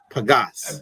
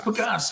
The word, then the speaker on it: Pages: It says Pages on his back. Pagas, yes. But it's Pagas.